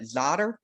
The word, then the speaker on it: Czotter: everyone welcome can i i apologize if i mispronounce this but zotter you got it right that's a surprise like the fifth person i've ever met that has gotten my last name right so good job uh